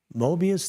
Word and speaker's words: Mobius: And 7:30 p.m., live from the shallow end of the gene pool, it's Mobius Theater.